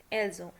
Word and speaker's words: elles ont: Okay, the verb avoir, note that s of the subject pronoun nous, vous, ils, elles is pronounced as an English z in the phrase nous avons, vous avez, ils ont, elles ont. So that's what I told you, because there is a vowel after s, so we will pronounce it as z.